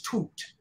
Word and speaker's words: Tut: Tut Tut Tut and it's not Tut it's toot toot is how you PR pronounce it so I'm sorry